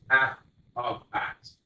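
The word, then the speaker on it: f(x): And again, you just heard me say it is pronounced f of x.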